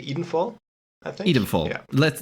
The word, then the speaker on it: Edenfall: I'd rather say Edenfall, I think.